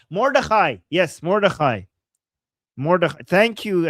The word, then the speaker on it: Mordechai: I know what this is referring to, but I don't know how to pronounce that. Write it in Arabic or Persian. Mordechai. Mordechai.